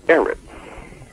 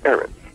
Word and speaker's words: Eretz: When you study earth according to my study tools, you'll understand that earth in Hebrew is Eretz, pronounced Eretz, E-R-E-T-S. And to your shock, you will